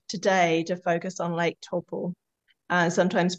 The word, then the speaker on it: Taupo: but we concluded today to focus on Lake Taupo, sometimes pronounced Lake Taupo, Lake Taupo, depends on what side of the, you know, the linguistics you're on, but Lake Taupo.